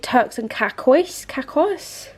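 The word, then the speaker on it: Turks and Caicos: the elf putty blush mine's in these shade Turks and kakois that's how you pronounce it I love it it's so pretty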